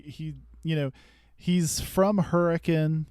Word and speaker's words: Hurricane: you know he's from Hurricane you have to say it like Hurrican or people get mad at you um he knows the